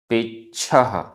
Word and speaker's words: पेच्छ: पेच्छः, आधा छ, पेच्छः, पेच्छः।